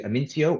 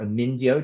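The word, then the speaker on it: Amyntaio: But when you go over to the other side, we get to Amintio or Amindio, depending on it's spelled in various different ways.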